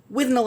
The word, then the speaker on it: Withnail: Yeah, not too much of a spoiler to tell you it's pronounced Withnail. Okay, so Bruce Robinson's Withnail and I. Mm-hmm. Okay, but it looks like Withnail.